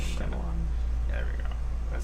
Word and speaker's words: Shyamalan: I don't know how to pronounce his name. Shyamalan.